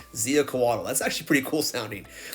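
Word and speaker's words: Xiuhcoatl: I had to look that up to make sure I pronounced that correctly. Ziacoatl.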